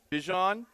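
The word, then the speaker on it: Bijan: Well, uh, guys, we've been saying Bejan Robinson's name wrong all along. His name is Bjon.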